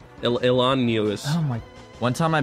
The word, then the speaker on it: Illinois: Chicago yeah they're everywhere Illinois yeah Illinois that's not how you say it Elan oh my one time